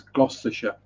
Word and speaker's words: Gloucestershire: other day i'm like no it's gloucestershire you don't have to pronounce all the letters in it you pronounce letters that aren't in it but not the ones that are in it i have to go